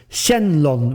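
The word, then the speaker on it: 神龍: his name the phonetics Shen long which is which you see written in uh Katakana between brackets and here again he used the Chinese pronunciation of these characters over the Japanese one so I thought it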